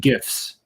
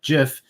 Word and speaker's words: GIF: fishermen that are out and um coordinated animated gifs right even though the inventor of the gift says it's pronounced Jiff he's wrong it's a gif yeah um so